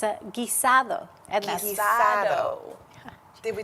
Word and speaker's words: guisado: trying to teach you how to say it's a guisado.